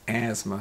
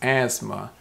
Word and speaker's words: asthma: breathe normally so that's asthma so interesting the first word was an thumb anthem that sound but this is asthma where the t is not pronounced or you cannot hear the t it's silent the fourth word is